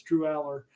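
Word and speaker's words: Drew Allar: I think Drew Aller. I found out I've been saying it wrong forever. It's Drew Aller.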